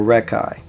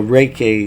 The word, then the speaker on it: Reiki: you start practicing on let's say Ricky or rekai I call it rekkai but Reiki is the pronounced way but essentially I practice